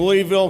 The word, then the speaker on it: Louisville: I was born and raised in Louisville, Kentucky. Notice how I said that. That is the actual pronunciation.